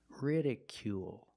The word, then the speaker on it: ridicule: ridicule it's r ridicule make the long oo sound plus the dark L at the end of the word ridicule ridicule is a verb